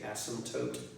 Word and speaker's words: asymptote: cross is called an asymptote a s/m excuse me asy a.m. PT ot e most people don't pronounce the P and just say asymptotes but if you pronounce